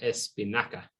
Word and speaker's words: espinaca: La espinaca, hard C or soft C? That'd be Yeah, so it's an a, hard. hard, ca. Mhm. Yep. So la espinaca.